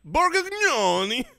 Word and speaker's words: Borgnoni: Borgnoni.